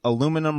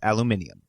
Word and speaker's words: aluminium: depressing you've been producing you've been pronouncing aluminum wrong this entire time look it up it's aluminium it's aluminium it's vitamin boy